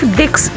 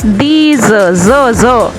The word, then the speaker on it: dix: 10 these, it not dicks, it's these, these.